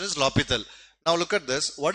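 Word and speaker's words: L'Hôpital: Some people will say L'Hospital rule. It is actually the actual pronunciation is L'Hopital.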